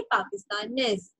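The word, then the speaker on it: pakistanaise: करना है पाकिस्तान ने बट in feminine the last letter is ई तो आपको एस तक प्रोनाउंस करना है so this will sound पाकिस्तान ने ओके पाकिस्तान ने पाकिस्तानेज जापोने जापोनेज कैनेडिया कैनेडियन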